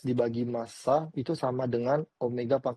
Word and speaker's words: omega: Jadi ini bacanya dibaca dengan omega bukan W.